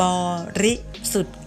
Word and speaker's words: บริสุทธิ์: สะ อิ จรัญ นะ คะ อ่าน ว่า น้ำ บริสุทธิ์ ค่ะ คำ ว่า สุด นะ คะ จะ ไม่